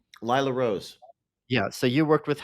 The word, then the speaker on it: Lila Rose: pronounced Lila Rose is that Lila's how she's pronounced Lila Rose yeah so you worked with her in the